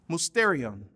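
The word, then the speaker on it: μυστήριον: See, the Greek word pronounced here is musterion, where we get our English word mystery from.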